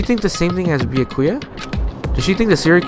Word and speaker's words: Byakuya: Bakula. It's Byakuya. Byakuya. Oh shit, I've been saying it wrong the whole time.